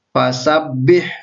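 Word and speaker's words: فَسَبِّحْ: di depan tidak ditahan jadi fasabbih dibaca ledekan masam masam b.h. bukan pas Tapi kalau bahasa Bi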